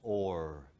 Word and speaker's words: our: pronunciation in Shakespeare's time the word our was pronounced or say it with me or sounds good doesn't it the word for prostitute was also pronounced or our wh [ __